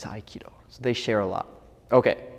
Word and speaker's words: Aikido: of iido and and they are actually written exactly the same way in Korean you pronounce it hopo in Japanese iido they share a lot